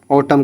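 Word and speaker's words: autumn: देखो एम के बाद क्या आ रहा है? एन आ रहा है। तो इसको क्या कर दो? साइलेंट कर दूं। ऑटम का हो जाता है पतजड़।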